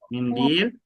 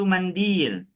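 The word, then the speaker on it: مِنْدِيل: Boleh juga kita bacanya bifathil mim. dengan difathahkan huruf mimnya yaitu mandil. Jadi boleh teman-teman ucap tisu itu mandil atau mindil ya tidak mengapa.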